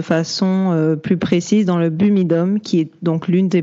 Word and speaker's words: BUMIDOM: Je vais très certainement prononcer BUMIDOM, parce que ça va faire des mois qu'on parle de ça avec Mélissa. Je le prononce toujours mal. Je vais dire BUMIDOM, mais c'est BUMIDOM.